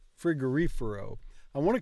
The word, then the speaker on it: frigorifero: it again Fifer frigorifero cuz I always want to pronounce the words I want to stress the words wrong and I don't know why un f f un frigorifero frigorifero frigorifero so the stress is here un frigorifero yeah